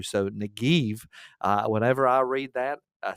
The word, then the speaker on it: Negev: Now, what's interesting about this word, Negev, is the Hebrew would be v. The B can be pronounced as a V in Hebrew. So Negev, whenever I read that,